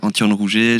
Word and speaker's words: Antton Rouget: voilà ok donc présentation je redis la première prononciation de mon prénom comme ça il y aura pas de pas d'erreur anti-roule rouget j'ai 32 ans je suis journaliste au pôle